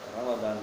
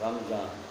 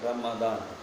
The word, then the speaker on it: Ramadan: called as Ramadan, and in English we call it Ramadan, but in Hindi and in other version we call it as Ramzan.